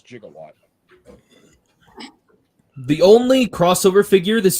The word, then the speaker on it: jigawatt: how you pronounce that I don't call him gigawatt I don't care what anyone says the joke is jigawatt the only crossover figure